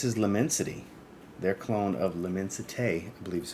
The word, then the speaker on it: L'Immensité: So I grabbed Alexandria's version of L'Immensité from Louis Vuitton.